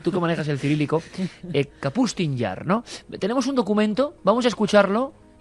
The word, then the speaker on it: Kapustin Yar: Yo he dicho siempre Kasputin Yar, pero es Kapustin Yar. Con estas cosas rusas ya Sí. se sabe que las pronunciaciones... Tú que manejas el cirílico. Kapustin Yar, ¿no?